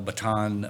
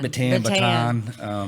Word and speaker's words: Bataan: I'm saying it wrong. Baton. Yeah, Bataan. Bataan makes more sense.